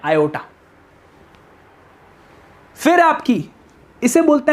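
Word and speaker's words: aorta: पढ़ने में आपको ऑर्ट्रा लग रही होगी, पर एक्चुअली में इसे प्रोनाउंस करते हैं आयोटा।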